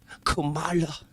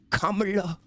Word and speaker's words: Kamala: But yet again, he's like, "It's not Kamala. It's Kamala."